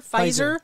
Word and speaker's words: Pfizer: and it was the pi feister visor pfizer i think the p is silent just like in p